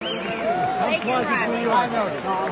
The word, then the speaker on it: Laken Riley: Laken Riley.